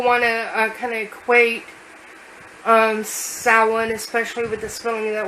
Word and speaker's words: Samhain: the word salad um even though the the word sounds different it is traditionally kind of spelled the same way most of the time I'm salen is um the the